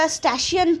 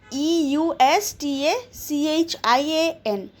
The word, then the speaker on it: Eustachian: A narrow tube called the normally the Eustachian tube. Okay, the EU is silent. Eustachian. Eustachian tube connects the middle ear of the entire panel.